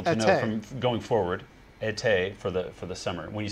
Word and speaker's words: été: And she said, it's pronounced été.